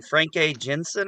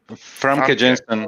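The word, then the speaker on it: Famke Janssen: How do you say her name? Frank A. Jensen or something? Famke Jensen.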